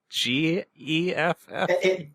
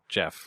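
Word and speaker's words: Geoff: G-E-F-F? G-E... Oh, God, I think it's G-E-O-F-F. Oh, yeah, okay, Jeff, right. Jeff. Sorry, for a second I imagined G-E-F, like Geff.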